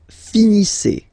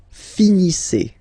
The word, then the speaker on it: finissez: Vous finissez. Vous finissez. Okay, a Z at the end gives you the sound E.